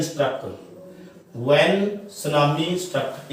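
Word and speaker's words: tsunami: When सुनामी struck, इत्थे T silent हुंदे बेटे, ध्यान रखो, ते सुनामी नहीं कहना, टी लिखा जाता है। ठीक है, जैपनीज वर्ड है ये, टी साइलेंट है, इसको बोलते हैं ਆਪਾਂ सुनामी।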